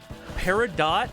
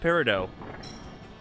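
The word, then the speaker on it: peridot: And apparently Paradot is not pronounced paradot. It is pronounced parido.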